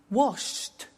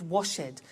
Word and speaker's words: washed: the T danced laughed washed and walked okay now the temptation is to say watch it Dan said the laughs ed wash it but we eliminate the e and we add T okay watched danced good the